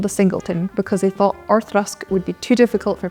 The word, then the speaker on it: Auchroisk: Most people try Auchroisk, but as Kelly says, pronunciation is Auchroisk.